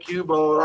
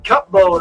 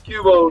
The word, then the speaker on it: Cubone: Cubone. I'm sorry. I was thinking Cupbone. I Cabone. It's Cubone.